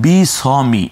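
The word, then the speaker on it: بسم: বকে রশ্মিকার স, ময় রশ্মিকার মি, এই যে বিস মি আমরা স্ক্রিনে দেখতে পাচ্ছি, বিস মি, এখানে আমরা বি স মিও বলছি না, অর্থাৎ এককেরও এককে নিয়ে আসলাম, অর্থাৎ বি স মি এটা বলছি না, আমরা বলছি বিস মি, এই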